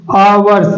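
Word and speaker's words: hours: ओ यू आर एस यहां पास ध्यान देना है कि यदि हमारा जो वर्ड है वर्ड का पहला अक्षर कंसोनेंट है कंसोनेंट है लेकिन जब हम इसका उच्चारण करेंगे तो इसको हम बोलते हैं आवर्स आवर्स जिसका उच्चारण का पहला अक्षर हमारा स्वर होता है इसके पहले हम ए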